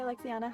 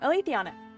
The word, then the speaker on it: Alethiana: Hi, Alexiana. How you doing? Good to see ya. Alethiana? I said it wrong. Alethiana.